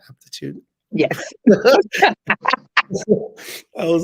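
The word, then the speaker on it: Apretude: Aptitude?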